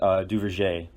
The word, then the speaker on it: Duverger: You're going to get led back to the same person, and that is Maurice Duverger. As a little bit better than the last one. Excellent pronunciation this time.